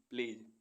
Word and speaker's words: pledge: PLEDGE प्लेज, प्लेज means प्रतिज्ञा। KNOWLEDGE नॉलेज means ज्ञान। ऐसे वर्ड्स जिनमें अल्फ़ाबेट जी साइलेंट रहता है।